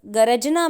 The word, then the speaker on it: गरजना: अब आप देखेंगे क्योंकि यहाँ पर र स्वर रहित है इसीलिए गर्जना होगा और गरजना में र स्वर सहित है, वहाँ पर अ भी लगा हुआ है इसीलिए उसका उच्चारण होगा गरजना।